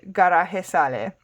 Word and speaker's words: garaje sale: So, con esa ropita, with these clothes, como de garaje sale. So this is just garage sale in English, but she's pronouncing it as if it was a Spanish word, not an English word.